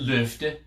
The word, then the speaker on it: Loft: it is it's a it's a danish company so they probably pronounce it luft but this is your